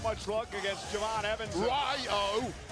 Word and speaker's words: Rayo: Ryo. Say it properly, Michael Cole. Very disrespectful. You're like Gunther, you are. It's Ryo, not Rayo.